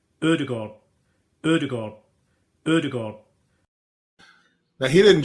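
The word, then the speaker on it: Ødegaard: Sometimes it's easier just to say the name, and it's Martin Odegaard. Odegaard. Odegaard.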